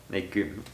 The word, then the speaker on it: légumes: That's the only one where it's pronounced like G. Légumes. Yeah. Legume. Go ahead. Because there is no E or E sound after.